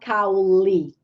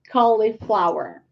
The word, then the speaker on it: cauliflower: carrot broccoli cauliflower cauliflower not cowley but Colli Colli cauliflower this work specifically to